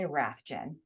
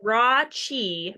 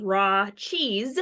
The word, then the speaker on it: Rathjen: So it's raw cheese, but just think of raw cheese. Raw cheese. Yes, E at the end. Raw cheese. Raw cheese without the S-E.